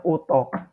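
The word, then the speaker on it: اتاق: Kamar dalam bahasa Persia itu disebut utok. Dibacanya utok. Utok.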